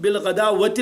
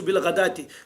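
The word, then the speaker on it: بالغداة: واو لکھا رہتا ہے، بالغداوتی نہیں پڑھیں گے، اس کو بالغداتی. واو رسم الخط کا ہے، یہ لکھا جاتا ہے، پڑھا نہیں جاتا. اس لیے دنیا کی کوئی طاقت اس واو کو ہٹا نہیں سکتی، حالانکہ اس پر کوئی حرکت نہیں، زبر نہیں، زیر نہیں، پیش نہیں، جزم نہیں، لیکن واو پڑھنا نہیں، لکھنا ہے. بالغداتی پڑھنا ہے اور واو کا لکھنا ضروری ہے.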